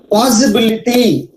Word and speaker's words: possibility: Possibility, possibility, the word possibility. Yes. See, where is secondary stress? Possibility. Possibility. Before pa sound, we have secondary stress.